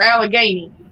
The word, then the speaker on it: Allegheny: Is it Allegheny or Allegheny? That's Allegheny. Allegheny. Okay. Yeah. But I've heard so many different people pronounce it differently, and I never.